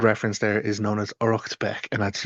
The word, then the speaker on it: Uraicecht Becc: um the good reference there is known as orbeck and that's u or a i c e c ht and then beck b e ccc.